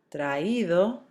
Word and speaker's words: traído: The spelling changes, remember you're accenting the I so that you don't have a diphthong form and make it one syllable. So, oído, leído, traído, caído.